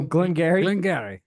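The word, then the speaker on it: Glen Garioch: I would go Glengarioch. Glengarioch. All right, well, I will spell it for everybody. It's Glen, Glen, Garioch. Glengarioch. Close. Glengarioch. Just you can drop the ock. They just go Glengarry.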